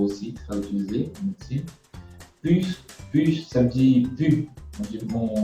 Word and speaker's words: pus: Immunisable les individus contre la variole en leur inoculant du pus de vache. Inoculant, un autre mot aussi très utilisé en médecine. Pus, ça veut dire pu. On ne prononce pas beaucoup le S.